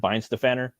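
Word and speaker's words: Weihenstephaner: Like the oldest brewery, like my favorite beer is from Weinstefaner, or they pronounce it Weinstefaner, and they have a plethora of different beers.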